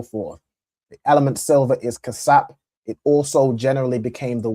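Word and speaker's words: כסף: Ka cas casap. All right. Excellent. So silver in Hebrew is cas. All right. You got the ka sa and p and the s pa joined together.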